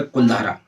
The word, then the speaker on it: कुलधारा: जैसलमेर ज़िले में एक गांव है कुलधारा। वैसे उसको हिंदी में कुलधारा बोलते हैं, लेकिन अगर इंग्लिश में आप उसका प्रोनाउंस करेंगे तो कुलधारा हो जाता है।